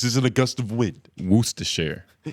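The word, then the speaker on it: Worcestershire: wer wer sh sauce forget about the cess syllable let me see where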